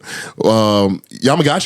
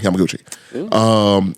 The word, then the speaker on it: Yamaguchi: Yamagashi is the last name. I can pronounce that for sure. Tsushitomo Yamaguchi. I'm sorry, Yamaguchi.